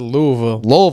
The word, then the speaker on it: Louisville: Koa Pete I from like how you said Louisville.